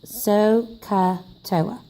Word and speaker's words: SOHCAHTOA: T 0 a ok this is pronounced so kuttawa sohcahtoa and sohcahtoa is an